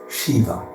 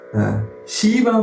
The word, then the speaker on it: Shiva: He said, the Bhagavatam says, consisting of only 2 syllables, Shi and Va. The sound purifies one of all bad karma. Again, a transformative experience waits for us. Shiva means Mangala, writes my spiritual master, or auspicious.